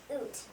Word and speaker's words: Ute: The Shoshone allies were the Bannock, Crow, Pawnee, and I can't pronounce that. Oot. It's Ute.